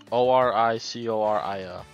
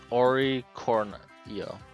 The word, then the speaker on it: Oricorio: Oricarno? Anori what? Oricorio. Can you try and pronounce it? Oricornio.